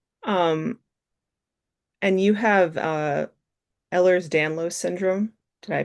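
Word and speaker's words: Ehlers-Danlos: Um, and you have uh Eller's Danlo syndrome. Did I pronounce that correct?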